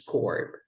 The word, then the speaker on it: corps: And then we have with the PS, corp.